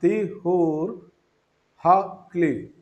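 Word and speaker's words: טיהור הכלי: അതിൽ ഹ എന്ന് പറയുമ്പോൾ ആ എച്ച് പ്രൊണൗൺസിയേഷൻ കൂട്ടണം. അതുപോലെ ക്ലി പറയുമ്പോൾ കേക്ക് അതിന് ഉച്ചാരണ ശക്തി കൊടുക്കണം. തിഹൂർ ഹ ക്ലി, അതാണ് അതിൻ്റെ ഉച്ചാരണം. അതിൻ്റെ അർത്ഥം ഇൻസ്ട്രുമെന്റ് പ്യൂരിഫിക്കേഷൻ.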